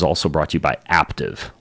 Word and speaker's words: Aptiv: This podcast is also brought to you by Aptiv. Like active, but spelled with a P.